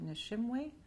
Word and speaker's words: Nishimwe: I can spell it, Nishimwe, Nishimwe.